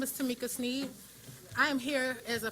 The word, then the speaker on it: Sneed: Sneed.